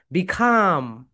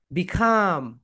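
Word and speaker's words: be calm: এই কারণে এখানে এল উচ্চারণ হয়নি, এটা হচ্ছে সাইলেন্ট লেটার।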